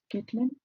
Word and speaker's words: Caitlin: I don't know whether I'm pronouncing your name right. It's Caitlin. Yeah. Thank you for speaking to us today. Oh, thank you. It's a pleasure. Welcome. Okay. She says, yes, I am pronouncing it right. Would you say, what would